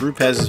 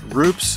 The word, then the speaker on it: Rupes: day one began with rupez history and industry leadership the first question dylan asked everyone is how to pronounce rupes given some people's propensity to pronounce it roops or rupees but actually learning where